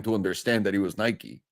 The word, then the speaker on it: Nike: all call it Nik we don't pronounce the E I was in montere